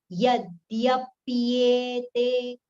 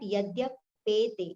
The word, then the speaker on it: यद्यप्येते: Yadyapyete, pyete. It is not yadyapete, it is yadyapyete. Pa is joined to ya, right, with the a pronunciation, a vowel sound. So it is pyete.